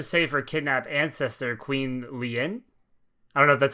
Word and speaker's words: Lien: We're forced to save her kidnapped ancestor, Queen Lien. I don't know if that's how you pronounce that. I think it's just Lean. Queen Lean. Lean? Is it really just a Lean? Well, yeah, because it's Marlene, as I think.